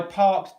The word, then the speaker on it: parked: So if I said, I parked down there, what we've got is the K sound here. We've got this is a T sound. The ED ending in this scenario is pronounced as a T.